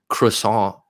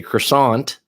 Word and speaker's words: croissant: go get some food just had a crew song as they would say in America we say croissant I'm sure Sabina knows how to say it correctly being the euro on here croissant croissant there's a cafe near